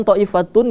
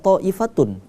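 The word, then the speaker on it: طائفة: dalam satu kata kemudian thoifatun ini kita bacanya tidak tau ifatun kalau kita sambung tapi melainkan Kenapa karena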